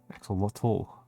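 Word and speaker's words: axolotl: Axelottal. I'm pronouncing the tea harder than other Americans.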